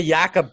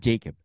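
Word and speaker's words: Jakob: pole yeah even the yakob part is pretty neat because it's like oh no no not Jacob yakob yeah yeah yes y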